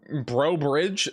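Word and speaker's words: Breaux Bridge: Is it Bro Bridge? I don't think that's bro. Just laughette. Um, near near I 10. Uh, I I would say the chances are pretty low. I don't know how else you pronounce that. I'm not going to lie. Is that Is that how you say it, though? It is bro.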